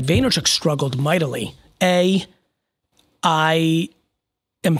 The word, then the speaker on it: Vaynerchuk: of Candor no it's the emphasis on the first part it was Gary vaynerchuk struggled mightily a I